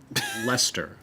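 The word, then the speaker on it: Leicester: Reese Pell it like spell it like the name Lester like elle EST ER like then american it will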